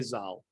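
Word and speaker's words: ז״ל: It's an acronym for Zichronam Livracha, but you could say Zal.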